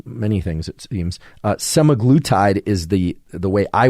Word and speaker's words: semaglutide: I can never pronounce this can't seem to pronounce many things it seems uh semaglutide is the the way I would pronounce it